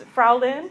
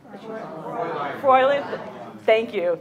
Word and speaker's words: Fräulein: As you can see, the picture of the lady here, I'm going to mispronounce this, Frau Lynn, is that right? Fräulein.